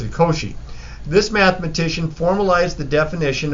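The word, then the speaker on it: Cauchy: and it was this math but I always pronounce it Koshi this mathematician formalized the definition of what we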